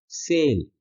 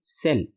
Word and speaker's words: sell: लंबा उच्चारण करना है, सेल। और SELL को जब हम बोलेंगे तब हम बोलेंगे सेल, स का छोटा उच्चारण, सेल।